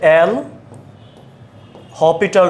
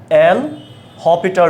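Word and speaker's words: L'Hôpital: পারবা এটার নাম হচ্ছে এল হপিটাল রুল এখানে এস এর উচ্চারণটা হবে না এল হপিটাল রুল হ্যাঁ লিমিটের যেকোনো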